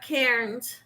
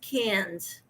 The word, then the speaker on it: Cairns: queensland cans it's not cairns it's can c-a-i-r-n-s but it's pronounced cans isn't that right lisa